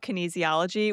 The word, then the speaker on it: kinesiology: I know you have a formal background educationally in kinesiology.